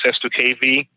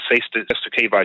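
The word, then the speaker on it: cestui que vie: SESTU-K, they call them SESTU-K or SESTU-K trusts, or SESTU-KV, spelled CESTUI. Next word QUE. Next word VIE.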